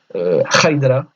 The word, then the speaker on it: haidara: Du coup, c'est ce type de son qu'on aura, par exemple, dans le mot haidara en shoirane, qui veut dire salut.